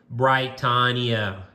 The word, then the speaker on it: Britannia: Tell those blokes it's pronounced Britannia.